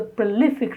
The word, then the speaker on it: prolific: He is a prolific writer, stress on L, prolific.